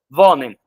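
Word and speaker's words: wohnen: Se pronuncia vonem, né?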